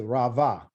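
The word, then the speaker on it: רבה: rav okay or ravi these b's are really pronounced as a v sound because they're in the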